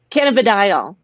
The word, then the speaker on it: cannabidiol: Cannabidiol.